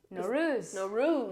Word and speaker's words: Nowruz: Oh my gosh, I was telling her, I was like, am I pronouncing this wrong? Nowruz.